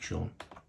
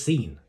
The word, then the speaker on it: Sean: right there featuring Big Sean wrong spelling of the name by the way s-e-a-n it's not a special this is not the correct spelling it doesn't spell it's that says scene it just does I got fun fact